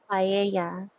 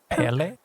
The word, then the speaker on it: paella: Paella. Yes, paella. It's a mixture of rice. Wait, how were you saying it before? What? Pele? I don't know. I don't know how to say it.